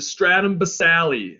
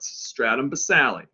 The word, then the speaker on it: stratum basale: layer all right the stratum basale i say basale because this yes the e is silent but i say it so you know how to spell it stratum basale don't forget the e